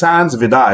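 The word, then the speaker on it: Hans Vide: It's spelled V-I-D-E, but it's Hans Vidar.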